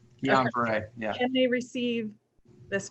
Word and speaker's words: Guillain-Barré: Guillain-Barré. Guillain-Barré, yeah.